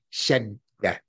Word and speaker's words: shadda: Over the dal, so you pronounce the D twice. Shed, that's the first D. Shed, then da. Shed da. S H A D D A.